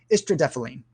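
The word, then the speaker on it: istradefylline: the star over it istradephalene that's what that word is that's how that word is pronounced estrodethylene is a parkinson's medication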